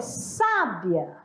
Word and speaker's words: sábia: quem né a primeira eu tenho sábia a sílaba mais forte tá na primeira é uma sábia e